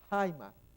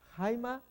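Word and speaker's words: αἷμα: Acá tenemos la pronunciación Jaima, pero más bien es H, esta J es una J, no es como la otra, esta es Jaima, como en inglés white, es suavecita. Jaima, jaimatos.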